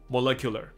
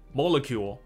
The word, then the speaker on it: molecular: 所以他发展出了一个 sustainable。那可能是咖啡豆的种植可能太怎样怎样怎样，所以这个东西能够比较永续发展的下去。所以我们常看到 sustainable development 就是永续发展，sustainable。所以 sustain 就是维持住的概念。好，所以这边说，Atomo is a molecular coffee made with upcycled plant material。这 molecular 的意思就分子，我们知道有分子料理，所以现在也有分子咖啡，所以 molecular molecule。它的名词的发音跟形容词不太一样。Molecule, molecular, molecule, molecular.